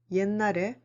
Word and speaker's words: 옛날: 옛날에, in the old days. Be careful with your pronunciation. 옛날.